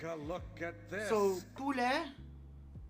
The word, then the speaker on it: poulet: So, so the reason why it's P in PFK is because chicken in French is poulet. Poulet. P-O-U-L-E-T. Just take a look at this. So, poulet, right?